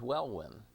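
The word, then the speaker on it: Welwyn: built in england and the second one is well win and well win is spelled w-e-l-w-i-n w-e-l-w-y-n so well when is the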